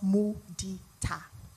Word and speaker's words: mudita: And by the way, it's pronounced mudita.